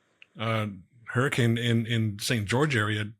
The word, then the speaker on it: Hurricane: on a little secret it's huran hurricane just pissed off every Utah person in the state it's Hurrican hurricane and uh Hur it's it's a weird pronunciation spelled the same way though um however you know